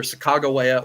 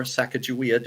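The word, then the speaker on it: Sacagawea: a guide who was either sagaa or sakaja depending on how you know different uh people pronounce it um and they got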